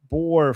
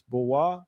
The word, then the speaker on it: Boer: You should be in our group and saying it's Boer not bore for sakes. I mean I don't know how what like why are you getting angry with me? I don't know how to pronounce these things. I saw this. Uh, so Ber Boer is a white farmer in a Yeah. Okay. Thank you. Boa. Boa. It's Boa.